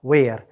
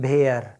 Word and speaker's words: where: दूसरा वर्ड है आपका वेयर, WHERE, वेयर। क्या बोलेंगे? वेयर। ज़रा बोलने की प्रैक्टिस कर लीजिए। कभी आप कुछ स्टूडेंट्स बोल जाते हैं भेयर, नहीं, आपको बोलना है वेयर, आपको बोलना है व्हाट।